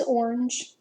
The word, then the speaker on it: orange: or and just orange it's got that soft G at the end that says it J sound so it's kind of